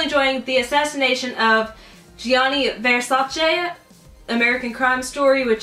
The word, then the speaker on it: Versace: on the assassination of the famed designer Gianni Versace it probably sounds weird with me saying it